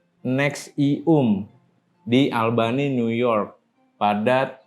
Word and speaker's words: NXIVM: Kate Rainier mendirikan organisasi pengembangan pribadi profesional bernama NXIVM, dibacanya NXIVM, di Albany, New York pada tahun 1998.